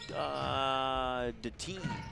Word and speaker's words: Deteen: That's Harley Deteen. That's how you pronounce that one, according to one of the Stanley Blue Jay players who helped me out with the name pronunciations.